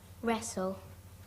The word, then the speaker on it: wrestle: Wrestle were wrestle.